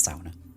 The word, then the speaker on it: sauna: Sorry, sauna. It's pronounced sauna. I always say sauna but it's sauna.